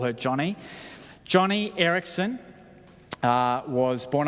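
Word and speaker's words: Joni: j n i but she's named after her father and so she insists her name is pronounced Johnny so I'm going to call her Johnny Johnny Erikson uh was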